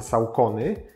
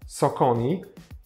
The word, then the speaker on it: Saucony: po asfalcie także zaczynamy firma której nazwę w Polsce wymawiamy saony a w USA socon ma ponad 100 lat